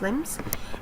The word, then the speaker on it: limbs: and we said that we don't pronounce the B letter so its limbs and it means arms